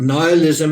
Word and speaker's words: nihilism: i think you know some of you guys pronounce it slightly differently nihilism think about nihilism and the word annihilate but this one thing